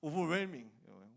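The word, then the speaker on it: overwhelming: 5천 이거 책에서 공부했는데, 그래서 나는 당연히 웰밍인 줄 알았거든. 오버웰밍이더라고. 오버웰밍 묵음입니다. H는 묵음이라고 유명한 말이 있잖아.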